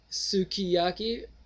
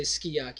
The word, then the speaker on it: sukiyaki: you could say uh Sukiyaki or you could say skaki because the u sound you don't pronounce in most of the Japanese words anyways it's long belated